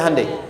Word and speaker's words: Hyundai: Hyundai kan dibacanya Hyundai, ya kan? Sana Honda, sini Hyundai gitu.